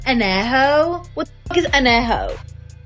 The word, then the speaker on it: Añejo: least you can do is learn how to pronounce the tequilas correctly. Blanca, Reposado, Añejo. What the fuck is Añejo? It's Añejo, puñetas.